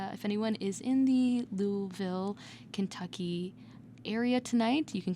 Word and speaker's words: Louisville: to be doing tonight I said it right Louisville right yeah okay that was that was perfect just like a native Kentucky hell yeah born